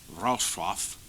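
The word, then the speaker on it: Wrocław: in Breslau Silesia Germany now Rau pronounced rof Poland people at the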